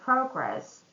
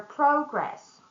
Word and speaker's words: progress: So once again, if we stress the first syllable in the word progress, it's going to be a noun. So let's review our progress. And when we stress the second syllable, it's going to be a verb. The project is progressing well.